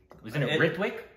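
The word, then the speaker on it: Ritwik: It looks like which Rithwick. Which I've seen before. Right, but I believe it's Rithik.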